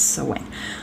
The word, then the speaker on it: Samhain: It's Samhain.